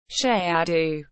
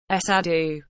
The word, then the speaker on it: Cerrado: The Cerrado, Portuguese pronunciation, Cerrado, Cerrado, is a vast tropical savanna ecoregion of Brazil,